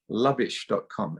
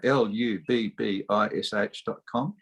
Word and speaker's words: lubbish.com: It rhymes with rubbish, but there's no R, there's L.